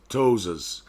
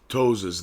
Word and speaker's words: ptosis: of the eyelid called ptosis ptosis the P is silent ptosis the nerve supply of